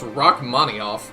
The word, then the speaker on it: Rachmaninoff: By the way, Rachmaninov is pronounced Rachmaninoff.